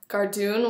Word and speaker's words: cardoon: Gardoon, which is spelled Cardoon.